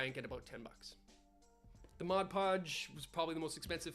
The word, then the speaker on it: Mod Podge: Podge another part's Modge Modge it's not Modge it's Mod Podge I hate when people pronounce it wrong mud PUD incorrect sand into the bucket